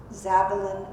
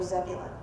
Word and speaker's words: Zebulun: And so in the dialects that we know were in the northern kingdom of Israel, Sabalun and Zebulun would have been alternate pronunciations of the same name.